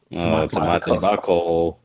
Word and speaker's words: tamatebako: Tamatebako.